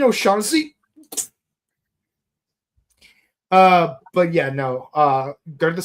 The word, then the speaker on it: O'Shaughnessy: Hey, Aaron, go to O'Shag Hennessy's office right now. You mean O'Shaughnessy?